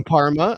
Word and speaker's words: Parma: I said Polmo and I meant Parma. My My apologies to all Italians whose city starts with a P. I meant Parma, not Polmo.